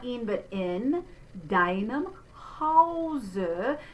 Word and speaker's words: Hause: So there's the closed O, wohl, closed E, denen, die, in, not in, but in, deinem Hause. So that diphthong is au, ha, nice and tall there, Hause, wohnen.